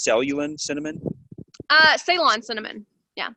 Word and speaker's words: Ceylon: So maybe like I'm looking at it right now, but is it pronounced Ceylon cinnamon? Ceylon cinnamon. Yeah. Ceylon.